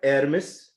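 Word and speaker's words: Hermès: when I talk about air Miss as how it is pronounced in Paris and Louis Vuitton Rolex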